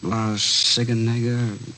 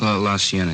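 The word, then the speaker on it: La Cienega: Uh Las Sigenega. Is that how you say it? La Sienna.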